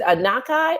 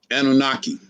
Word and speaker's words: Anunnaki: And I don't know how to pronounce this word. Is it Anukai? Anukai? Anunnaki.